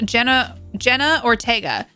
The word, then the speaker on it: Jenna Ortega: Yeah, Jenna Ortega.